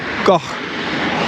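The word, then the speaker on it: Kok: it's pronounced, the first K is pronounced with a bit of a G sound, so it's like goh.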